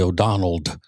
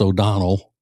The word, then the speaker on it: O'Donnell: sisterin will say Rosie O'Donnell. It's not O'Donnell, it's O'Donnell. No D on the end. No D for Rosie. You get it? You don't get it. All right, so Rosie O'Donnell is going to guest